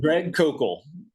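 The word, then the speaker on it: Koukl: You so you talked to doctor, you just mentioned Shan Mcdawa and Greg C and and they were Did I pronounce his name correctly? Greg Kok from reason or stand to reason.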